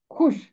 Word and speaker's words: خوش: کے اوپر پیش ہے، واو کی آواز خاموش رہے گی اور خے ملے گا شین کے ساتھ، خوش۔ اس کی آواز خوش نہیں ہوگی بلکہ اس کا تلفظ ہوگا خوش۔ خے پیش شین، واو مادولہ ہے، لکھنے میں تو ہے مگر پڑھنے میں نہیں آئے گا۔ اس نے مجھے مسح